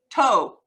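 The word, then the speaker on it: tó: and then you say toe and the word toe pronounce it like your toe means enough and it's used to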